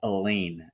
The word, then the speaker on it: Eleine: There's a band out of Sweden called Elaine. It's spelled Eleine, and we'll post something